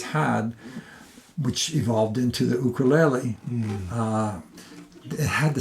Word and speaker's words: ukulele: believe it or not is a ukul pronounced ukulele ukulele not ukulele do you want to sound like a local no it's actually from